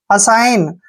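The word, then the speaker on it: assign: आई पढ़ते हैं और य पर एन से पहले जब भी जी आता है तो जी का उच्चारण हम नहीं करते हैं और एन को न पढ़ेंगे असाइन असाइन होता है सौंप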